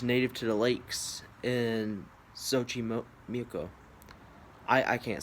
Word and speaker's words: Xochimilco: Um We're going to get the pronunciation up real quick. There it is. Xochimilco Xochimilco New Mexico Um it's like a lake area, and they have that's where they're native to.